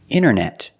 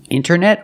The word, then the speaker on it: internet: You have NT in the middle, the T is silent. Other examples, internet. Internet or internet.